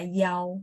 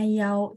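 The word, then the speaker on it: 幺: dibaca tunggal Itu khusus untuk satu itu dibaca yaw bacanya yaw terus saya ingat apa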